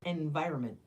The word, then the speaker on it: environment: don't know yes environment we do not pronounce that second n Triad it's environment why you have a